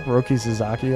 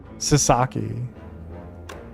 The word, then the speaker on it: Sasaki: Comments would be correcting your pronunciation non-stop. Roki Suzaki ass. Wait, is it is it not Roki Suzaki? Have I been pronouncing that wrong the whole time and nobody told me? Sasaki.